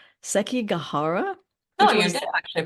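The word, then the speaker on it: Sekigahara: the Battle of and I'm not going to pronounce this correctly SEI gahara no you did actually pronounce it um pretty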